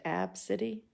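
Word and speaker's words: Abcde: spelled a b c d e and it's pronounced AB City this is cute you know blonde mom and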